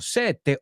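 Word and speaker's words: sette: For the double consonants, cuatro, sete, otto, try to make the sounds last a bit longer. The vowel sound before, after, or both.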